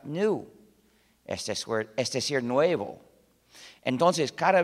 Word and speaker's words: GNU: No obstante, cuando hablas castellano, puedes pronunciarlo new, como si comenzara por ñ, lo que es también el nombre del mismo animal. Me dicen que pronunciar GNU es difícil para ustedes. No comprendo por qué, para mí es muy fácil, pero siendo así, recomiendo la pronunciación de new.